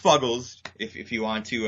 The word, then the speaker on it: Fuggles: Boston area stop it's uh actually it's it's pronounced fuggles if if you want to uh you know